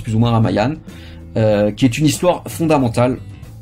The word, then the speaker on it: Ramayana: Alors c'est écrit Ramayana, mais ça se prononce plus ou moins Ramayana, qui est une histoire fondamentale en Inde et dans tout le monde hindou et en Asie du Sud-Est.